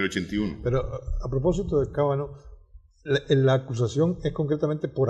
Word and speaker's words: Kavanaugh: Kavanaugh. Kavanaugh. Ese mismo. Pero pasó. Así se pronuncia.